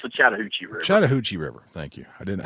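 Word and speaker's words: Chattahoochee: on the the Catt it's a chattahi river chattah huchi river thank you I didn't I didn't want to mispronounce chattahi I want to make sure I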